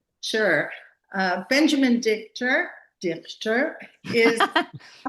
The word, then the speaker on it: Dichter: And our special guest today is Benjamin Dar. Do I pronounce it right? Because I use it as a German word.